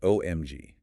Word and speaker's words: OMG: For LOL and OMG, they are almost universally pronounced letter by letter. LOL and OMG.